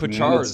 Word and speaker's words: Pachciarz: You said it perfect. Pachciarz. It's 2 syllables, pa and chars.